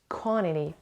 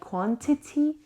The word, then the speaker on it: quantity: Quantity. بچه it could be pronounced like quantity or quantity. Quantity it's better. Quantity or quantity. The amount of something مقدار چیزی.